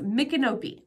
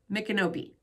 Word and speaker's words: Micanopy: Ocala and Gainesville okay so yeah it's a micanopi that's how you pronounce it it's m-i-c-a-n-o-p-y micanobi I heard they're all